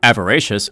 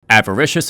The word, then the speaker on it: avaricious: Avaracious, oh that's not how you pronounce that. Avaricious and covetous slightly increases the chances of rare items appearing on floors and in dandy shop.